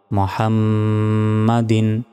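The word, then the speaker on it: محمدٍ: আলা এলাতে এক সেকেন্ড টান হবে মোহাম এখানে মুহামমাদিন বলা যাবে না মুহা বড় হার উচ্চারণ করতে হবে এবং মিমের এখানে গুন্না হবে মুহাম্মাদিন আল্লাহুম্মা সাল্লি আলা মুহাম্মাদিন।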